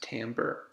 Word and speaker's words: timbre: Timbre, pronounced timbre, and is our way of defining the quality of the sound.